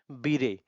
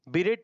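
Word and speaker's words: beret: अब ये बीरे, pronunciation repeat करते हैं, फसाड, लिएजन, मेजोनेट, बीरे। बीरेट नहीं, बीरे।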